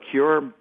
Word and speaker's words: CÜR: Yes, it's Cure Media. Thank you. So CUR, the U has an umlaut, hence the Cure.